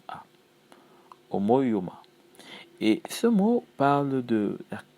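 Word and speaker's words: ὁμοίωμα: qui euh non pas guela plutôt euh omouma omoima voilà vous avez compris h o m o i o m a Omo Yoma et ce mot parle de de de conformité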